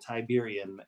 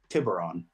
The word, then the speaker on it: Tiburon: assistant if you will tiberium is um or no sorry Tiburon Tiburon I always say it wrong Tiburon is down uh